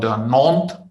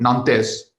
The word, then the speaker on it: Nantes: semester which was in a city called the north that would be a french pronunciation yes but these but the way you write in english or maybe german you will call it nantes but in france so